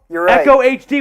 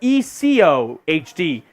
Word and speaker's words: Eco HD: by now yeah um Echo HD what's going on Echo HD says Echo HD or Eco HD I've been with you too long to keep pronouncing myself oh I get it eco HD okay we might have